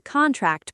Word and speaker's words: contract: Sentence four, contract, stress on the first syllable, noun meaning the document.